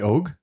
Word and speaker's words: Og: Well, how do you say Og in English? What should you say? You say Og.